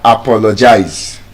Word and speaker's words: apologize: You don't say I apologize. The stress is on the second syllable.